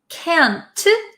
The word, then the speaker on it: can't: So a lot of Americans don't pronounce the T's at the ends of words. So can, C-A-N, can, and can't, we often say can't, can't.